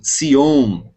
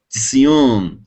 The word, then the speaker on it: Tzion: Por exemplo, você vai ver algumas palavras como Sion, né? Na verdade, literalmente, um hebraico bem pronunciado seria Tzion, Tzion, né?